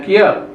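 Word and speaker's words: 키읔: Bacanya kiat.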